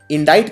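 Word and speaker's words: indict: तो इंडाइट में ये बीच में सी आता है, ये प्रोनाउंस नहीं होता, इसका उच्चारण नहीं किया जाता, लेकिन लिखने में ये आता है।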